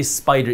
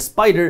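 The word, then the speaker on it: SPDR: manages this ETF and spider is the one that manages this by the way just so you know spider is spelled s PD now when we talk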